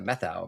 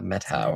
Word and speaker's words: Methow: But if you look at you're like, "Oh, that's like the methau valley." But then Right. Yeah. But if you're a true local Yeah. The metau metau.